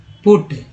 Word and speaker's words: put: देखिए यू का उच्चारण की बात करते हैं, तो PUT, पुट, और BUT, बट। यहाँ पर यू जो है बड़ी छोटी यू के रूप में उच्चारण हुआ पुट में, जबकि बट में अ के रूप में उच्चारित किया गया।